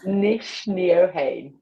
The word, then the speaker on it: Nc'nean: And let's pronounce the name together. The Nc'nean.